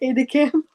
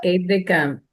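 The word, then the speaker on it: aide-de-camp: Is that how you pronounce it? Aide de camp. Yes, aide de camp.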